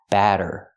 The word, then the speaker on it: batter: pancake batter for pration use the open a sound like black cat ba batter and the Double T makes a fast D sound batter batter pancake batter